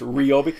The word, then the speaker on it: Ryobi: Don't we normally call it Ryobi? I used to. That was one of the first things they trained me on. Okay, here's how we pronounce our company's name. It's Ryobi.